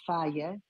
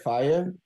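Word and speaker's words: Fage: The real Greek yogurt is faya, but you don't have it with the fruit, just the plain one, 5% full fat. That's how you say it, fire? Faya. Oh, okay. Because the G is a r, like It's not a gamma. It's not a gamma. It's a gamma.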